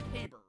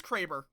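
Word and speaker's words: Kraber: cuz I've always heard it pronounced the cber in um Titanfall. No, it is Craber.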